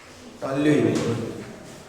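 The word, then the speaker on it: toluene: टॉल्यूइन। टॉल्यूइन नहीं है, टॉल्यूइन, टॉल्यूइन। इसका है टॉल्यूइन, स्पेलिंग खुद से लिखना है आपको।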